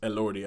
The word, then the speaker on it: Elordi: And the creature is played by Jacob Elordi. I believe that's how you say his name. That's how everybody say it. Elordi. I've heard. That's the only way I've heard this pronounced.